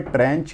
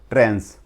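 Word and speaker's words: tranche: वैसे दिखने में ट्रेंच या ट्रंचे दिख रहा होगा लेकिन इसको प्रोनाउंस करते हैं ट्रेंस।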